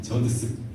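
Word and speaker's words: Judson: 근데 원래 이 아버지 아도니람 저스틴은 이 말이 잘 발음이 안 되는 저드슨입니다. 저드슨.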